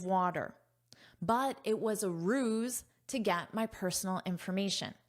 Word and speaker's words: ruse: After visitors publicized the ruse. Okay. First, look at this word, but listen to my pronunciation. Ruse. Zzz. So, notice the sound is a zzz, zzz, a z. Ruse.